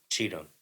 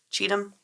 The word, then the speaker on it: Cheatham: is your last name is it or cheat them how do you say it I don't want to say it wrong cheat them cheat them that's what I thought yes don't don't feel